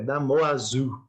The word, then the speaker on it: Damoiseau: É Damoiseau, né? Que é o nome francês lá, tá?